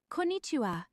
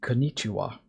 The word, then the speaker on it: konnichiwa: It's pronounced konnichiwa. Ko-na-ni-chi-wa. Why did The he cheerful put greeting that'll extra make your code emphasis say on the hello N? all day long. It's just konnichiwa. There's no pronunciation added to that N. Just konnichiwa. Like, what?